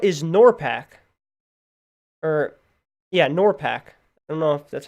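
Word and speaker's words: NORPAC: worst part what is nor pact or yeah nor pact that's how you say it Norfolk is a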